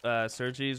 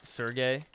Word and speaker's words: Sergey: You pronounce Sergei's wrong. It's Sergey.